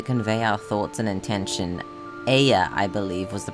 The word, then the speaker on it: Ea: still required to convey our thoughts and intention Aya I believe was the pronunciation used when referring to our people though